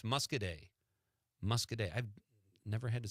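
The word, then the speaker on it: Muscoda: Madison says the town in Southwest Wisconsin is pronounced mus mus say it Conrad musk day musk musk mus y PJ also says that on the stream he checks in Pete it's MUSC musk day I've never had to say that word before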